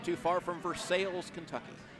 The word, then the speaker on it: Versailles: And I've got family that lives not too far from Versailles, Kentucky. Not Versailles. No. Versailles.